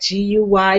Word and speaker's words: Guy: I said, Guy, like G-U-Y, the French pronunciation. She goes, no, Guy. I'll name you Guy.